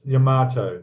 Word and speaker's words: Yamato: I've been hearing about in the modelling community about the new 200 scale, and now it's Yamato. Is that how I pronounce it? Yeah. Yes. Okay. The Yamato.